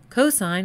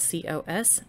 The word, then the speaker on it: cosine: Cosine will be abbreviated as C-O-S. And tangent will be abbreviated as T-A-N. But you still pronounce them as sine, cosine, and tangent.